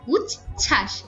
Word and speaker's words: উচ্ছ্বাস: উচ্ছ্বাস এই ছ এর নিচে একটা ব থাকে এই বটার কোন উচ্চারণ হয় না উচ্ছ্বাস এমন উচ্চারণ হয় এরপর উজ্জ্বল দন্ড এখানে